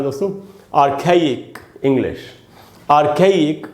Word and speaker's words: archaic: तो दोस्तों इसका प्रोनाउंसिएशन है आ खे और इक, ई दो बार है। इसको आर्खाइक नहीं पढ़ना चाहिए, आर्खाइक, आर्खाइक। आप समझ गए?